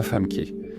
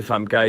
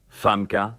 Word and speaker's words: Famke: La bonne prononciation est femme, pas femme K. J'aime répéter Famka et je l'ai souvent dit. Femka. Femka. Femka.